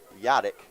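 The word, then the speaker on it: Hladliek: pitch from nichols to garrett yadak that's spelled h-l-a-d-l-i-e-k yadak the shortstop for statesville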